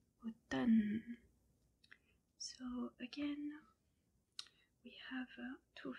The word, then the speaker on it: automne: Autumn or fall in French is called automne. So again we have two very similar words. Automne. The M and the N are pronounced just N. The M is silent.